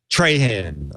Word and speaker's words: Trahan: Han TR h tra Haan we need we need a pronunciation from my ear tutors yeah Trahan okay it's good I think you should keep